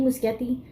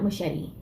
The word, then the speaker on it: Muschietti: Andy Muschietti. I've been saying his name wrong this whole time. It's not Muschietti. Muschietti. He described it as being more organic.